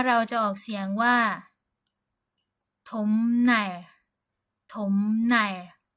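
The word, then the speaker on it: 톱날: จะ ออก เสียง ว่า ถม ไน ถม ไน ก็ คือ ใบ เลื่อย หรือ ว่า แผ่น เลื่อย นะ ฮ ตัว นี้ นะ คะ เรา จะ ไม่ ออก เสียง ว่า ทบ ไน นะ ฮ ทบ ใน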